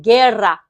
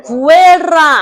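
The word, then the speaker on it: guerra: 게라. 게라. 발음 어렵죠? 게라. 이거 구에라 아닙니다, 여러분. 아 그러면 여기서 질문하는 거 다른 자음들하고 붙어도 그래요.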